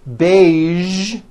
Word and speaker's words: beige: casual television very good now there are only a few words that have the voiced zhi sound at the end a few of these words are the color beige the word massage and the word prestige okay now that you